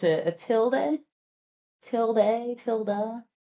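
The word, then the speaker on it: tilde: Okay, we looked it up. We're just going to say tilda.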